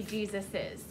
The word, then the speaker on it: Jesus's: So if you see Jesus apostrophe, it is supposed to be Jesus's. Because we say that S sound at the end, right? So we need that extra S.